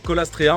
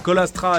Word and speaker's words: Caulastrea: courte alors pour commencer on va pas dire colastrea on va dire colastra AA mais bon c'est vraiment